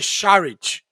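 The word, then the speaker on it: Šarić: Você machucou na verdade a pronúncia dele shared ele fala que Charles porque tem o Ezinho com acento dele lá uma outra língua então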